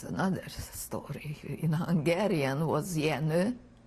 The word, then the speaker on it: Jenő: In Hungarian was Jenő. Spell that, please.